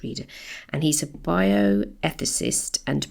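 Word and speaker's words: Rieder: I'm sure it's pronounced reader.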